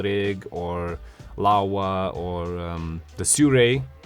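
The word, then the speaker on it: Sirui: or lava or the suray Sea Ray actually that's how they're supposed to be pronounced my I have a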